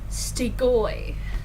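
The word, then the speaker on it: Strigoi: And they have to, and then the guardian trainers are Stigoi, and I learned that is actually how you pronounce it.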